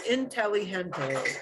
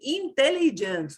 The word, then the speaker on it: inteligente: the pronunciation rules, because your brain is going to want to say it as inteligente, inteligente, and you think you're doing great because you've got the gente thing in there, but you really want that E sound, right? We don't say intelligent, no. Intelligent, but inteligente. So yeah, getting that pronunciation into the Spanish mode is really important because it'll make it easier for other native speakers to understand you more easily.